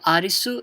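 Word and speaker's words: アリス: Kuni means country so arisu is the pronunciation for Alice okay so it's Alice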